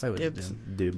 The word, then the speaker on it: Dib: I thought Dib was a good character design as well. Yeah. Dib. Dib? Not Dim. Dim. Yeah, it's Dib. Dib with a B.